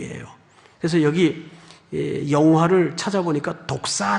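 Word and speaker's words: δόξα: 그래서 여기 영화를 찾아보니까 독사 라고 돼 있어요 독사 헬라 말해 뱀을 얘기하는 게 아니에요 그냥 발음이 독사 요 그 영화롭게 하다는 독사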